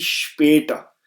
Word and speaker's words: später: इसलिए इसकी जो प्रोनाउंसिएशन है वो हो जाएगी स्पेटा. स्पेटर. तो जो आ है उसको हम फ्लैट कर देंगे.